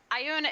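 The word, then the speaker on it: Ioun: i une i un okay i un so ayun is one of the ones that's uh that's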